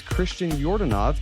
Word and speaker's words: Christian Yordanov: here Ben's here and our guest today is Christian jordanov did I pronounce that correctly yeah all right cool so